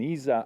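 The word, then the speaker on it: ESA: so I'm uh uh an Isa astronaut of Italian nationality that's that is the correct um pronunciation and um and so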